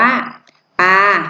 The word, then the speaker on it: ปลา: อะไร คะ อ่าน ว่า ปลา สะกด นะ คะ นัก เรียน มี โปร อา ปา ป่า อา ปลา คำ ว่า ปลา นะ คะ ก็ คือ จะ เป็น เสียง สามัญ นะ คะ ปา ลา